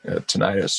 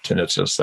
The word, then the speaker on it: tinnitus: the story of developing tinnitus or tinnitus. I'm never sure how to pronounce it. People pronounce it 2 different ways, but I'm an old punk rocker.